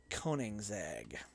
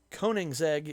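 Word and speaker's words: Koenigsegg: do to end gaming and go to videos koningzag the world's most unpronounceable car name k-o-e-n-i-g-s-e-g-g koning's egg is a swedish car company that is known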